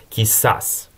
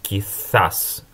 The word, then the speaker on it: quizás: Или же это слово произносится в Латинской Америке как quizás. А в Испании на castellano, классическом испанском, это все-таки quizás. Похоже на английское th, вот этот звук zeta, theta точнее.